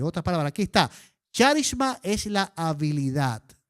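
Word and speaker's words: χάρισμα: Los que son expertos en griego nos dicen que esa palabra se pronuncia como charisma.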